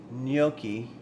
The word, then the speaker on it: gnocchi: Uh, Clungson says, "Isn't it pronounced?" Yeah. Nyoki.